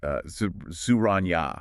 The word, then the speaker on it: Souragne: We're talking Souragne. It's pronounced Souragne.